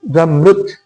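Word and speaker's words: زمرد: contohnya seperti yakut dan zamrud, batu zamrud, zumurrud, kalau di sini bacanya zumurrud itu ada.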